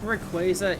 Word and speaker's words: Rayquaza: uh what was it so I think Rayquaza is actually the white right way to say it because Quasar is where that's coming from but I forget how